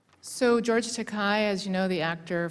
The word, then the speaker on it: Takei: Here's George Takei, it rhymes with decay, a book in which um he talks about, you know, one young man lusting after another.